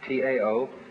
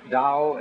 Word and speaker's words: Tao: So their principle of nature is called a Tao, T-A-O, pronounced Dao in the Mandarin dialect, Tao in the Shanghai dialect, To in the Cantonese dialect.